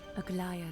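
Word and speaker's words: Aglaea: Let me actually see how they pronounce it. Aglaya the ghost.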